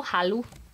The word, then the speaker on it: Halu: say it you know Halu it's like the hallucination but it's Halu like hello like like it's